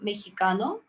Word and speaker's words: mexicano: mexican you call him mexicano so you don't pronounce this x as x you pronounce it as he i think for for